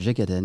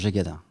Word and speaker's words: Jégaden: la vérité c'est que je dis à tout le monde que je m'appelle jackaden mais si on va en Bretagne mon nom se prononce gadin mon père disait que